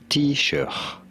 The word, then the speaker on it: Taoiseach: And it's supposedly a pronunciation channel. I would think you'd get to that. T-shirt.